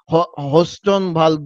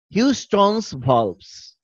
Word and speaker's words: Houston's valves: কেউ কেউ হোস্টন ভালভ বলে, কেউ হাউস্টন ভালভ বলে। So many funny pronunciations are there, but actual pronunciation will be Houston's valves.